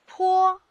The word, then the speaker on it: 颇: 这个字念坡，偏坡的坡，颇具特色的坡，怎么记？